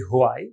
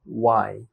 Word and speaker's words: why: আমরা বলি হোয়াই, বাট হবে ওয়াই।